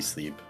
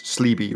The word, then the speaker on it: Spleeby: No, you have to pronounce the P, Sleep. That's important. I think it's Sleeby, right? Oh, that's the P that's silent.